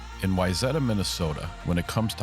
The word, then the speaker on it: Wayzata: It's pronounced Wayzata, Brenda.